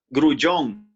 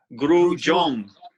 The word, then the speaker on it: Grullon: Okay, first of all, how do you pronounce your name? And I'm sure I got it wrong. You say it right. Grullon. Grullon.